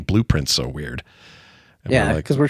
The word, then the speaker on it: Blue Prince: So when we say blueprints, it's spelled like P R I N C E and the color blue, but you're supposed to think blueprints, like these rooms are a part of a blueprint.